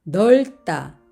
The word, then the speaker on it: 넓다: 그래서 밥다 밥다 그리고 넓다 넓다 여기에서는 리을 받침이 소리가 나고 비읍 받치면 탈락이 되었습니다 넓다 넓다 같은 리을 비읍